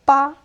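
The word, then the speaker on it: 八: in America but uh so in Chinese 8 is ba and it sound very similar to a word which pronounce fa which is the short version of getting super rich.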